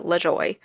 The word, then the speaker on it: Lajoie: There is a NASCAR driver with the same last name spelled the same way, and he pronounces it LaJoy.